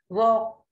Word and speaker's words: walk: Walk, L. Walk, talk, L is silent.